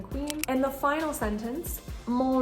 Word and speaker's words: mon: And the final sentence, mon logement est simple. In this sentence, we have another nasal with mon, so the N is not going to be pronounced.